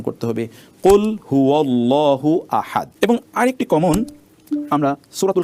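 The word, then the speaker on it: قل هو الله أحد: অর্থই হয় না বেসিক্যালি এই হু টা আল্লাহু এর হু এটা আহাদুনের সাথে সম্পৃক্ত নয় সেই কারণে আমাদেরকে উচ্চারণ করতে শুদ্ধ করে উচ্চারণ করতে হবে কুল হুয়াল্লাহু আহাদ এবং আরেকটি কমন আমরা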